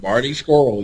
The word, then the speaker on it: Marty Scurll: Is that how you pronounce that dude's name? Marty Scurll, yes.